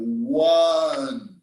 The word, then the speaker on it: one: sound is really consonant for example one and unit they begin with the vowels but the initial sound like one unit is like w and y in one and you so i cannot say